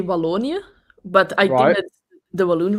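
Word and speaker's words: Wallonië: but what's the the provinces how do you pronounce it well in in Dutch you say valonia but I did the balloon region and then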